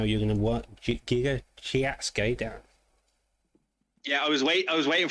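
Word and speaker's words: Giga Chikadze: The correct way to say it is Giga Chikatse.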